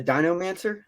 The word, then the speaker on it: DinoMancer: Sky Walker from the dinomancer am I pronounce that right yeah that's it it's like Necromancer just dinosaurs I mean fair enough